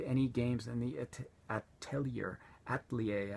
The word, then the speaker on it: Atelier: games in the Atelier ater actually is the pron pronunciation but nobody knows what that if know what it is unless I say a Tellier Series so I'm going to